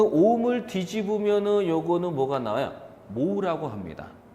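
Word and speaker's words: mho: 모라고 합니다.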